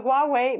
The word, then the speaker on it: Huawei: So, that's the Huawei Mate name. And yes, that is how you pronounce that company's name. I know somebody always likes to argue about that.